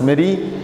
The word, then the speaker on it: merry: Not marry, it should be pronounced as merry.